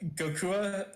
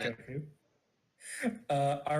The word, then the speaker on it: Goku: I think it's actually like Gokua. There's like a very slight other syllable at the end, but it gets lost really easily. So if you're watching in Japanese, it sounds like they're just calling him Goku.